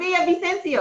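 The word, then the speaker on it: Villavicencio: Yeah, no, it's Vicencio. That's not how you say her name. Yes, Carla Cornejo. Miss Carla Cornejo. And let us know because Vicencio. Something. But great book. Yeah. Okay. 2 L's make a yeah in Spanish.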